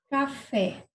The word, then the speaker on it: café: Então, oxítona é quando eu tenho a última sílaba da palavra mais forte. Então, eu vou escrever aqui, por exemplo, café.